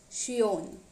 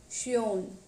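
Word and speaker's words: schön: pronounced as o whereas o with umlaut is pronounced as yo yo for example shion shion which means beautiful here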